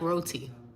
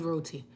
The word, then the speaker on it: roti: I actually like roti.